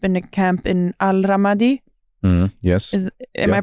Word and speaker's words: Ramadi: They finally they ended up in a camp in Al Ramadi. Yes. Am I pronouncing Ramadi, correctly?